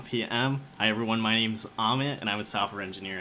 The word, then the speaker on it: Amit: I normally say Ahmed like Comet, but I feel like there's a couple of different pronunciations. But my preference is Ahmed. You can say Ahmed or Amit, but I'd go for Ahmed.